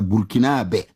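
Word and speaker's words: Burkinabè: La bonne prononciation là c'est ça. Burkinabé burkinabé ça.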